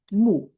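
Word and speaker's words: 目: So do you know this character pronounced moo moo?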